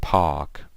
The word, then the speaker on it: park: So you guys know, British people, they usually say things like these words without the R. So the R is usually silent. So it's park, right?